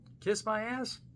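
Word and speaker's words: Kizmiaz: Kiss my ass.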